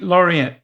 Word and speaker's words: Laurent: Laurent. Woo, that's close. And then it's and then there's no there's no t sound.